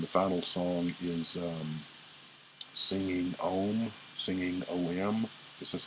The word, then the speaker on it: Om: Ninth song, it ends, and the final song is singing OM.